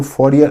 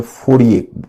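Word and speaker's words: Fourier: फिर ये Saint Simon, Charles फॉरियर, ये है, इसको फॉरियर अंग्रेजी में बोलते हैं, हिंदी में फोड़िए बोलते हैं। फॉरियर प्रोनाउंस होता है फॉरियर।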